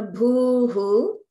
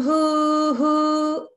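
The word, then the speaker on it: भूः: So the Bhuhu, because it's a dirgha, the Hu will be just a little bit longer, like Om Bhuhu.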